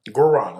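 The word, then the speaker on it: guaraná: How do you pronounce that? Guarana? Guarana.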